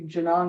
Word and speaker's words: Genung: You just go on Amazon, put in my name, Janong, and the last name is spelled Genu N.